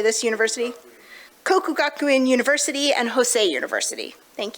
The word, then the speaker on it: Kokugakuin: Kokugakuin University and Hosei University.